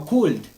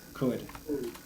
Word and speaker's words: could: the pronunciation is good no cooled it is incorrect code like this could yes could that's right good now just a second I think I need to okay good good so that is the pronunciation could okay could you tell me